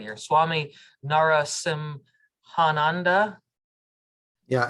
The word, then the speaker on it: Narasimhananda: Swami Narasimhananda. Yeah, it's pronounced as one word, Narasimhananda. There's no break.